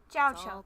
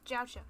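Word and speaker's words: Jiaoqiu: Jiao Chou, that's how you say his name, okay. Jiao Chou, Jiao Chou, Jiao Chou.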